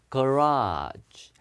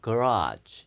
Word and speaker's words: garage: 첫 번째는 garage, 거라지 아닙니다. 예, 뒤에가 요 소리예요. garage.